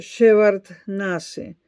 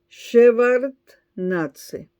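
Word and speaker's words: Shevardnadze: dimisión del entonces presidente de Georgia, Edward eh Shevard Nase. Ya voy, voy a pronunciar de nuevo el apellido. Edward Shevard Natze. Este es un nombre que sonó mucho en los noticieros durante años. Edward Shevarnatze.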